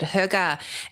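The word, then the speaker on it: Hygge: So, uh, so what can readers expect from the rest of the, uh, the Huga series? Did I say it right? Yeah, you did. Huga.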